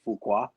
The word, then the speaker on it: Fuqua: So, a recap of my of the six picks was director Antoine Fuqua. Um, am I pronouncing his last name right to Yeah. Yeah. Fukua.